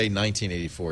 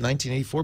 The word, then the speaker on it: 1Q84: they're telling me that 1q84 you should say 1984 it's like shardai it's pron it's spelled one q84 but it's pronounced Shard I